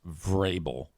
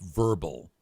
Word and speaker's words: Vrabel: whatever, just say, so the name is pronounced Vrabel, not Mike Verbal.